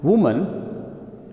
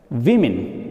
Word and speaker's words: women: Woman becomes women. It's not same pronunciation. This is woman and it is women.